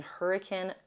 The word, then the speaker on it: Hurricane: The thing I suggest most is staying in an Airbnb or something in Hurricane. That is how you pronounce it in Utah, the city, not the storm.